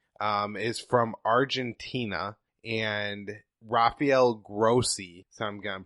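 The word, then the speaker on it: Grossi: new guys name is from Argentina and Rafael grossy so I'm gonna pronounce a G ro SSI and he was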